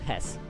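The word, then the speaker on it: Höss: Sorry, not Haas. Hess. Pronounced Hess.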